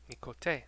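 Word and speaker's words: Miqo'te: I've been pronouncing Miquote, incorrectly this whole time. Miquote.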